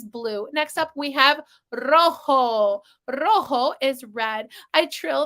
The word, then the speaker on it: rojo: Rojo. The J in Spanish is called Jota. It sounds like our English H. And so that's why this is pronounced rojo, not rojo, right?